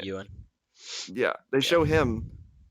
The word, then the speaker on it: Ewan: Whenever you first meet Obi-Wan, they then do like they then show Ian McGregor, or however you pronounce his first name. Ewan.